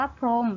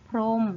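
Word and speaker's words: พรหม: ใช่ ไหม คะ อะ เรา จะ อ่าน ว่า พรม เรา จะ ไม่ อ่าน ออก เสียง ตัว หอ ห*บ นะ คะ เรา จึง อ่าน ได้ ว่า พรม นั่น เอง ค่ะ 2 ก็ คือ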